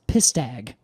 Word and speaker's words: pistag: And then later, it's just PSTK, which is pronounced pistag.